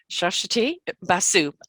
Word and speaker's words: Suswati Basu: from the uk is shashati basu did i did i do it right completely it is spelled totally differently from its pronunciation yeah we are we